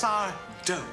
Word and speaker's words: Sardo: It's Sardo. No mister, accent on the do.